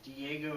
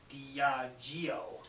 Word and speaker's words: Diageo: a uh pronunciation correction diego is actually pronounced diageo it's good to see